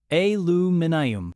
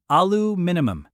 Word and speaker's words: aluminium: The British speaker repeats it. Alu minimum. The American shakes their head. No, it's aloo minimum. One less syllable, one less problem. Except the word was named aluminium with all the syllables included.